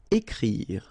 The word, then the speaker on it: écrire: Then écrire. So remember, you've got this accent aigu on the top of E, so it will produce the sound E. Écrire. Don't insist on the final E.